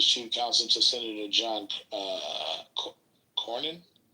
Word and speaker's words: Cornyn: counsel to Senator John Cornyn. Yeah, Cornyn's the right way to say that.